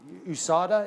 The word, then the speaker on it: USADA: Well, there is that also, the USADA, USADA, is that how you say it?